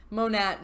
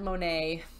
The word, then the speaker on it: Monet: like I don't know moan at Monet I've heard actually it's funny I've heard from all of you some have said to pronounce it moan at some have said Monet and I have googled